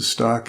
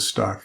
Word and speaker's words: Stock: heard people pronounce the stock and also people pronounce it as Stoke but I'm gonna go with stock because that's how it's spelled yeah that's what I